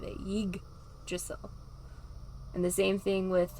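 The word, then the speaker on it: Yggdrasil: like tree of life so most people thought it was ye drizzle but they say it drizzle they they emphasize the g part of it yig drissell and the same thing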